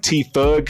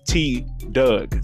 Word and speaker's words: Tdugg: to t doug now i was saying t doug name wrong uh in the video bro i was like t-thug so i don't know he he may have seen that uh if you do man i'm sorry about that bro i pronounced your name so wrong man but yeah uh his name is t doug so yeah that's his